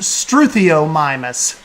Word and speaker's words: Struthiomimus: get to sandbox mode so well done it's pronounced struthiomimus coal struthiomimus the hammond foundation has three main areas heather